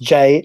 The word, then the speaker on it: Gee: Detective Inspector Monkfish looked this up, and it is G actually. It's pronounced Jee. I didn't know that. I also pronounced the Gee.